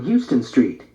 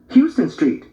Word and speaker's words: Houston Street: huge billboard yesterday on Houston Street Mimi said pronouncing the Street's name as one would the city where Houston Street hon Lena corrected hon yeah I saw it